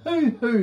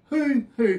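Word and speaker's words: huhu: But having said that, have you ever heard of a hoo-hoo grub? A what? A hoo-hoo grub. It's spelled H-U-H-U grub.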